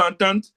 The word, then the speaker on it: Entente: That's E-N-T-E-N-T-E.